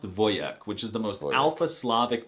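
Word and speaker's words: wojak: The wjack meme and the word are Polish, but it's actually pronounced voyek, which is the most alphasavic masculine thing I've heard all month.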